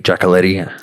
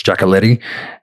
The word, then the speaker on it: Giacoletti: the name of ray giacoletti jacqueletti however different people pronounce it but um generally it's jackaletti and he was hired